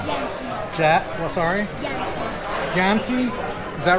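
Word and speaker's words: Yancy: and what's your name yans Jack sorry yans yansy is that right did I say it right okay good how do you spell that y a n c y would it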